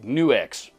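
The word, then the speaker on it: NUX: the way that that their brand name is in fact pronounced new X I got a confirmation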